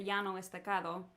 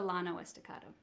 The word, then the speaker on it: Llano Estacado: meet the mesos so it would be in spanish it's the yano estacado but the texans say the llano estacado and it's where my